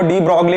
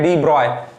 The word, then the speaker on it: de Broglie: यहां पे पढ़ने में डी ब्रॉय हाइपोथेसिस, बहुत लड़के इसको डी ब्रॉगली पढ़ते हैं, इसका सही प्रोनाउंसिएशन है डी ब्रॉय।